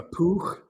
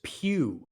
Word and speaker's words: Pugh: a dutch then hawk like a poo like a puke i think it's what sort of florence are we talking about do we know i'm not sure i'm gonna wikipedia sometimes gives you a pronunciation guide wow you guys will not believe this it's florence pugh i would not have guessed i would not have guessed that it is florence pugh yeah so i mean